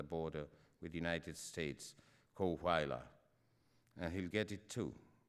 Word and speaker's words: Coahuila: It's pronounced Coahuila, I said, unable to resist the desire to correct him.